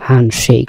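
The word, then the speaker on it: handshake: হ্যান্ড শেক, এখানে ডি এর উচ্চারণ হবে হ্যান্ড এবং শেক মিলে কি হলো? হ্যান্ড শেক।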